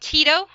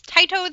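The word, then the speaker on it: Tyto: said it right finally it's not it's not Tito he is not a local pizza delivery man it is tiato the Swift and his little buddy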